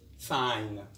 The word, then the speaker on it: sign: on to our lesson g is silent when it comes before n example champagne a champagne is an expensive wine foreign it is non-native sign design which means to